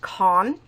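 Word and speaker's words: Kuang: Abraham then by RF I believe that's pronounced Cohn I have the poppy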